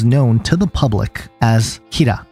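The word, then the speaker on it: Kira: to the public as kir which is basically a poor Japanese pronunciation of the word killer now the public doesn't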